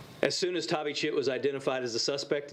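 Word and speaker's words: Thavychith: d-a-r-i middle name d-r-u last name t-h-a-v-y c-h-i-t-h pronounced tavi chit as soon as tavi chit was identified as the suspect in this case cmpd's violent criminal apprehension team v-cat immediately began apprehension efforts to locate tavi chit in the last two weeks since we spoke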